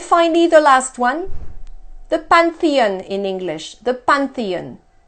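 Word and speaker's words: Panthéon: in English the pantheon well in French th is a T sound there's notes we can do that sound many French people have a horrible time doing th so they say this is zoo instead so the Pantheon in French has two nasal sounds the all sound the first one and then the old the third one so when we say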